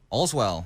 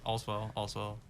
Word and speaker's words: Olswel: joined here today with Olswel, or how do you pronounce it? Yeah, that's good. Okay. Allswell. Yeah. Whatever you want to say, to be honest.